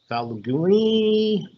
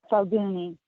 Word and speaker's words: Falguni: Falgini, is that how you say it? Falguni.